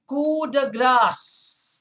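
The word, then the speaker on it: coup de grâce: this okay again again cuda grass that's how you say it it's a french term so the p is silent you don't pronounce it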